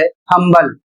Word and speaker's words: humble: अगला शब्द है HUMBLE, और इसे पढ़ा जाता है हम्बल, और इसकी हिंदी होती है विनम्र।